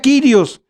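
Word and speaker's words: κύριος: Si dijera del Señor, diría aquí, donde dice teos, diría Kyrios o curios. Se escribe curios y se pronuncia Kyrios, pero no dice así.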